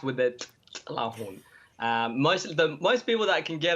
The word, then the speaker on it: Tilahun: There's not a lot of people that go, hey, you're not, you know, Jo White, you're Tlaahun, and it's pronounced with the Tlaahun.